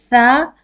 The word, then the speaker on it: ث: But in tha, if you pay attention, you will hear tha sound is much lighter than seen.